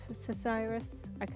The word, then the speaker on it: psoriasis: Cesiris. It's not. You don't pronounce the P.